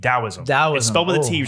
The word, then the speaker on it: Taoism: was the last thing it's actually supposed to say with the D taoism that was spelled with